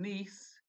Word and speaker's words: Nice: would I been in if I was in Nice what country would I be in Thanks oh sorry you say nothing it's pronounced nice if I was in nice what